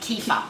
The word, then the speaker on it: kefir: yeah google just doms kefir kpf some people some people pronounce it keeper yeah okay kefir i've never met yeah